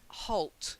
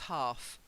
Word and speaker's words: halt: she's very considerate then halt not half halt to stop hold that's it and